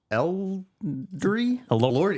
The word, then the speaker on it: Elordi: There is this film called Saltburn that stars Jacob Elordi. Is that how it's pronounced?